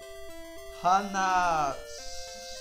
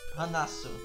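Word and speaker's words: はなす: Hanaso? Let me see what this one is. I'm not sure what the last one is. I don't think that's a so. It's a su. Hanasu. Hanasu.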